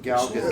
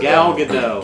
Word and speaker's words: Gal Gadot: Before I do this, can someone tell me how to pronounce the actress that plays Wonder Woman? I have no clue. Gal Gadot. Gal Gadot.